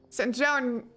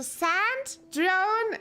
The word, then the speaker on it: Sandrone: It's pronounced Sandronier. Sandronier? Sandronier? Oh, okay. I didn't know that yet. I have always... Originally, I've pronounced it Sandrone. I originally said Sandrone because I thought that's how you pronounced it. Sandroni is how I'm gonna say it now.